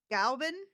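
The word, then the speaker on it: Glas Gaibhnenn: Galvin? Yeah. Galvin. Okay, so I was just pronouncing too many N's.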